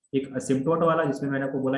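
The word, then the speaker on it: asymptote: इसमें p silent होता है, बोला जाता है असिम्प्टोट।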